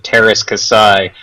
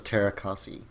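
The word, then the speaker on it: Teras Kasi: what Joystiq thinks of Star Wars Masters of Terras Kasai, go read... Is that how you pronounce it? Oh yeah, that's how it's done. I always thought it was Terrakasi.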